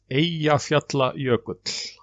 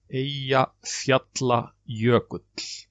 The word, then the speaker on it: Eyjafjallajökull: So it caused quite a havoc, and it took some time for the reporters to learn to pronounce it. But it's called Eyjafjallajökull. Eyjafjallajökull.